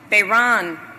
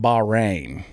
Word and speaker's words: Bahrain: like singapore and france bayran and india beiron i think you meant bahrain sister bay ron you done messed up babe ron wow